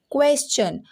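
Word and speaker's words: question: तो जब आपको TION से पहले, ठीक है, यस दिख जाए, जैसे यहाँ पे है ना, देखिए क्वेश्चन। अब इसको क्वेश्चन क्वेश्चन पढ़ रहे हैं, क्यों, क्योंकि यस TION की प्रोनाउंसिएशन क्या हो जा रही है, चा।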